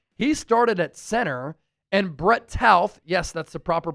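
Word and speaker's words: Brett Toth: And Brett Tauth, yes, that's the proper pronunciation.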